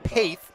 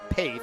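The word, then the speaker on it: Pecht: It's actually pronounced Paith, rhymes with faith. So we will get that corrected. We appreciate you out there in TV land correcting us, and we apologize to Collier Paith, who is having a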